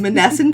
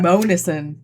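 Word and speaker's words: Monessen: in Manesscent, Pennsylvania. Monison. Look, just because my GPS mispronounces it every time. Go over the Mon bridge. She says it like that, too. She does. She does because she knows we're going to laugh at it.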